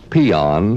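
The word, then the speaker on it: paean: you will find a word pronounced peon spelled p-a-e-a-n it means to praise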